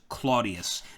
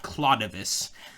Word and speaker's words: Claudius: i Vu s but the way you would pronounce his name is Claudius not clais um that would actually be visigothic almost um